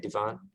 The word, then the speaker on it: divan: Is that how you say it, divan?